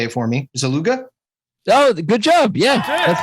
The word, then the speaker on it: Szleuga: I say Szleuga. Some people either drop the Z or they drop the S. I'm cool with either. It's supposed to be more like Szleuga. Ah. Yeah, which is pretty neat, but that's, yes. My Polish family decided to change the pronunciation and not the spelling, which is a very Polish thing to do.